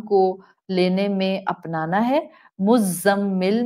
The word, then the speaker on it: مزمل: مزمل میں زا buzzing sound والی ہے.